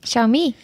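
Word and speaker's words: Xiaomi: Google to am I saying it right xiaoi xiaoi he said it right and that is where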